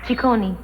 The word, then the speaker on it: Ciccone: And the name is pronounced? Ciccone.